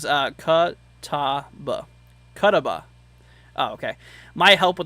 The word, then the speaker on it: Catawba: Lucy says Catawba. Oh, okay. My help with the pronunciation.